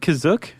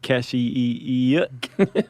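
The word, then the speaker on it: Kashyyyk: Is that how you say it, Kizuk? That's how it's pronounced in the episode, the holiday special, but it's also pronounced different ways other times. I would have pronounced it Kashi.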